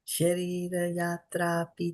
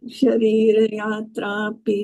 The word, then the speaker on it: śarīra-yātrāpi: Mataji, śarīra-yātrāpi means when you pronounce all together, it becomes little challenging. śarīra-yātrāpi chate. śarīra-yātrāpi chate.